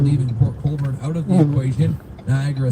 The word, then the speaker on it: Port Colborne: That's how I pronounce it. Now, Port Colborne. It should be Port Colborne, not Port Colborne.